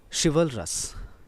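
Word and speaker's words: chivalrous: Next word is शिवलरस। इसका correct pronunciation करें ध्यान से, शिवलरस, शिवलरस।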